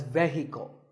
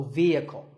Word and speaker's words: vehicle: next word is vehicle it's often pronounced wrongly as vehicle but the e is a long vowel and the H is silent so vehicle number eight is this